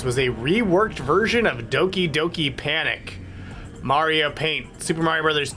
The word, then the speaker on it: Doki Doki Panic: read this question I definitely thought that that was going to be pronounced dookie dookie Panic no it's Doki Doki Panic it was a game